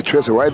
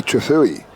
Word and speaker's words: Trethewey: I say Trethewey, but he tells me it's actually Trethewey. So Trethewey? Yeah, that's how he's told me his name's pronounced.